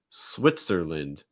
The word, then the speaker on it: Switzerland: that we have switzerland switzerland switzer switzer notice that that t-z sound is going to sound like almost more like more like a ts switzer switz it's not